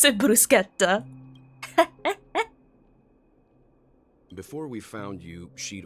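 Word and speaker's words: bruschetta: you you know what brushetta is right yeah that that's the American pronunciation if you want to pronounce it quote unquote correctly you have to say brusketta right you'll Barett so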